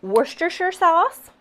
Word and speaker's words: Worcestershire: So in here we're going to do some Worcestershire sauce.